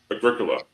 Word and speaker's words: Agricola: But Agricola, is actually how you say it.